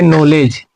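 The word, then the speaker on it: knowledge: है तो इसका मतलब होगा कि के यहां पे साइलेंट होगा। तो इसको पढ़ेंगे नॉलेज। अगला है दोस्तों अगला देखते हैं।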